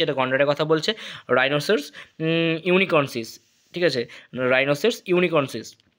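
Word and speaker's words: unicornis: আমরা বোঝা যাচ্ছে এটা গন্ডারের কথা বলছে রাইনোসর ইউনিকর্নসিস ঠিক আছে রাইনোসের ইউনিকর্নস ইউনিকর্নস না সরি উচ্চারণটা ভুল করলাম ইউনিকর্নিস ঠিক আছে রাইনোসর ইউনিকর্নস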